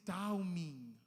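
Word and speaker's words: תמים: you pronounce it Taumin.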